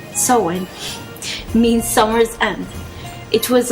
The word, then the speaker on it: Samhain: this segment of the podcast the book says soen pronounced soen means Summer's end it was a lunar Festival